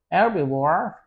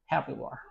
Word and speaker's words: herbivore: The animals that can eat only plants, flowers, and stuff like that, they are called herbivore or herbivore. H is silent in English. I mean in American English.